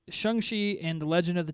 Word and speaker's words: Shang-Chi: our first look at at their movie um shanxi is how it's pronounced most people are pronouncing it shang chi yes so either way you pronounce it it